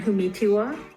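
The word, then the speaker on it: Humetewa: Before being appointed to the bench, the Honorable Diane Humatewa was a special advisor where I work, and our paths crossed a time or two. Her name is pronounced I am Diane Humitiwa.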